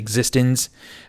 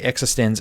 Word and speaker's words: eXistenZ: I know a lot of you guys want to say Existenz, but they say Existenz in the movie.